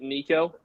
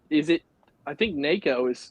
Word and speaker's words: Neko: So for me, I pronounce it Nico. I don't know that that's technically the right way to say it. That's the way that I say it. That's but I think Neko is how it's technically supposed to be pronounced, but I say Nico.